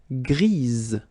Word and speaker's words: grise: Gris, don't pronounce the S, but then for the feminine form, grise. Remember? Grise. Alright? So when you add this E, basically it gives you the pronunciation or the possibility to pronounce the previous letter here. It's Z, grise.